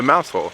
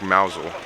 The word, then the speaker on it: Mousehole: gets his name the mouse hole uh or a mouse hole if I believe the locals say it like mousel you wanna be my